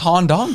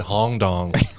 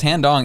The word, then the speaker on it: Han Dong: I think it's pronounced Han Dong, though. That's why. I thought you said Hong Dong.